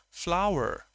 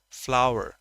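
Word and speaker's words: flour: F-L-A-U-R, an R absent in British, presence in American. That is flower. The pronunciation exactly the same to F-L-O-W-E-R, flower. Let me show you the phonetic symbols of that also. This is F-L-O-U-R, flower, a triphthong, flower.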